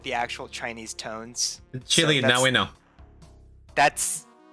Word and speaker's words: Qilin: But it's definitely more like Hunduin and Qilin than like Hundun and Killin.